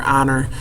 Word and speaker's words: honor: that vowel sound there honor um even though it doesn't start with a vow the H is silent so it's an honor to meet you Mr King comma Josh